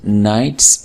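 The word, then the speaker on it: knight: कहते हैं मैंने Gallant नाइट्स interest the contest 2015 स.अ. ए नाइट के अंदर के साइलेंट होता है कमाना होता है सरदार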